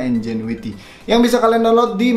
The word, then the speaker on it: NGENUITY: ya yaitu Enjoy with awalnya gue pengen bacanya tuh minuite tapi kayaknya nggak mungkin kan masalah press bikin software namanya ngenuity gitu yang baca entukan Sri Indonesia doang jadi harusnya dibacanya Enjoy with yang bisa kalian download